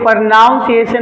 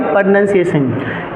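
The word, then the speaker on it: pronunciation: हैं प्रोनंसिएशन में और पहली बात यह प्रोनाउंस एशन नहीं होता भाई प्रोनंसिएशन इसको लोग अक्सर कैरियर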